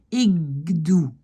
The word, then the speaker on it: ik doe: Ik doe, le K devient G.